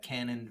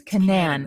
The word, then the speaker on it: Canaan: that pretty much wrapped up our weekend at Canon Valley Lodge I think it's Canan Valley Lodge in West Virginia I think it's Canan it's not canon it's Canan I think I think you only pronounce one